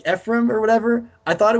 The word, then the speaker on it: Ephraim: actually think it is i think it's like i used to say frame i would yeah me too it's a different syllable yeah but but then like i kind of like people were like people have been like saying it out loud and it's like ephraim and i'm like right that makes a lot more sense now i guess but